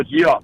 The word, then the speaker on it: Geoff: That'd be Jeff at Wingman Watches, but it's spelled like G-off. Hey, Geoff, Jeff. Oh, Geoff.